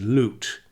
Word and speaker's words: Lut: Perhaps my love for troubadours has something to do with my last name, which is spelled as L-U-T, and in English it would be pronounced as lute.